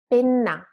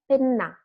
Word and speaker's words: penna: Pena, penna, pena, one N, penna, double N. So just longer and a bit stronger.